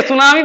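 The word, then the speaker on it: tsunami: से स्टार्ट होता है, हाँ टी सुनामी नहीं, सुनामी पढ़ते इसको, टी साइलेंट है।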